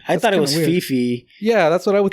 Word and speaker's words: Phi Phi: Okay, and it's pronounced PP. Yeah, I thought it was weird. Phi Phi.